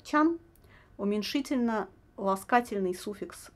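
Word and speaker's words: ちゃん: Тян, произносится скорее как тян, уменьшительно ласкательный суффикс к именам детей, кличкам животных.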